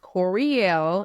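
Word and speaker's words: Courielle: part of my name but it's pronounced Corel and I'mma spell it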